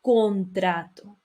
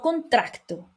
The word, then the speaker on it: contrato: Y por último tenemos la palabra contrato. Vamos aquí. Contrato, no contracto, no tiene C. Es la pronunciación normal, contrato.